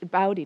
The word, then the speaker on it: Bodhi: on tuesday is um bodhi day which is bowdy day actually is how you say it um which is